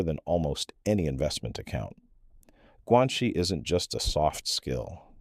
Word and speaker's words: guanxi: There's a concept in Chinese culture called guanxi, pronounced guanxi, and it roughly translates to relationships or connections.